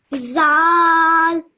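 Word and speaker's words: ذ: Zal. Okay, again, like I showed you before, this letter you have to pronounce with the tip of your tongue between your teeth.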